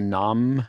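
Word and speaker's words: 南無: This is the nam here. So this in Japanese this would be written namu, but it's pronounced nam.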